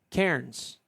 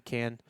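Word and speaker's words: Cairns: So can is spelled c a i r ns. Karens. Kairens. And I was taught you pronounce it can.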